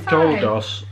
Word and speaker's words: Kodos: How do you say it? Kudos? Kodos? Kodus. Twirl and hurl. Kang and Had it great. Kang and Kodos.